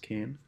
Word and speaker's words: Cahn: That was written by Celeste Kahn, or Celeste Kane. I believe Celeste Kahn. It's spelled Cahn.